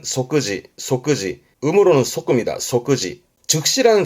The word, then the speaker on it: 即時: 발음은 소끄지.